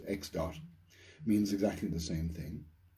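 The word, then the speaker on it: ẋ: so x with a little dot over it pronounced x dot means exactly the same thing and if we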